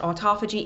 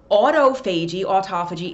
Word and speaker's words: autophagy: You'll hear this pronounced different ways, but I think it's pronounced autophagy.